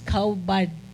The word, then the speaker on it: kabad: Ang word sa honor, ang Hebrew ana is kaubad. Or kabad ang spelling niya, K-A-B-A-D, pero pronunciation kaubad.